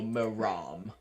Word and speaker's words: Moram: about it no it's it's a longer a so moram okay no all right thank